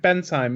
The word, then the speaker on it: Bensheim: over to Maker Faire Bensheim." I'm pronouncing it wrong, I know. You're pronouncing it correct. Bensheim, it's correct. Yeah. Okay, don't worry, you're doing it right.